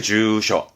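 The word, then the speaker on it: 住所: 부분이죠 대표적으로 뭐 주소라든가 발음은 주셔 주소에 주쇼 그리고 뒷글자는요 택자죠 주택이죠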